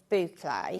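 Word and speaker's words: bouclé: So, yes, we already sell a lot of boucle.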